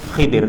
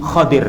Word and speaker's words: Khadir: Musa bersama Nabi Khadir, atau mungkin yang sering kita dengar Khidir, tapi sebenarnya bacaan dalam hadis-hadis itu bacanya Nabi Khadir, ya. Kha di domah, kha apa di fathah, kha-nya, ya. Khadir.